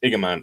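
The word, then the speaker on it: Igamane: It's Igman. It's spelled with an I, not an L.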